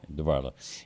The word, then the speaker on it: DeBartolo: yeah, Did I pronounce his name? Yeah. Right? DeBartolo.